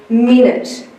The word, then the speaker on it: minute: And my final sound t. There is a T but he is followed by his silent final e friend and the T sound is represented by two letters. If I was to read this word I would say minute.